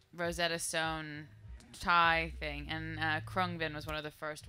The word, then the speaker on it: Khruangbin: to love saying it it's actually pronounced cron bin and I would just sort of go around saying Krong Ben and we were listening